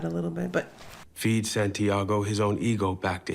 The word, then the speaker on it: Santiago: This is Santiago. It's not Santagato.